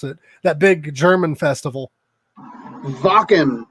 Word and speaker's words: Wacken: Wacken, I think. Wacken? That's what I thought, but people look at me funny when I say it that way.